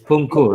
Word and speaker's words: Punku: about um uh uh pumapunka don't mispronounce that man there's a lot of punku it's punku right yeah or else it